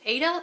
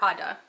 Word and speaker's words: Ada: The first name can either be pronounced Ada or Ada.